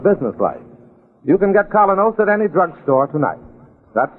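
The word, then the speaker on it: Kolynos: Colonos is a high-polishing toothpaste.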